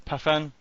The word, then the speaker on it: Pathan: We've got Shaz Pathan. Pathan? Yeah. Pathan? How do you say his surname? Pathan, yeah.